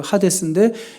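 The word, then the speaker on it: Hades: 하데스는 헤이지라고 읽으면 안 되고 하데스인데 이거는 그냥 쉽게 말하면 지옥의 문이에요.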